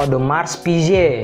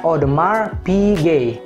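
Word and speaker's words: Audemars Piguet: saya yang bacanya odemars piguet atau odemars pij tapi originally atau seharusnya ini dibaca odemar pg odemar pg odemar pg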